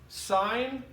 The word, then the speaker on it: sine: cos of an angle it's not pronounced sin and cos it's sine and cosine so when you talk